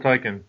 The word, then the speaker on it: Tyken: I am Mofo Tyken. Yes. You see how I pronounce that, Hajj? Tyken. Tyken, okay. Not Tyken, Tikon. yes. Tyken. No, not Tikon, nothing like that. Tyken.